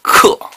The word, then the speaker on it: 恪: 啊，这字儿念克。第一，你去查字典，这字儿只有一个读音，就是克。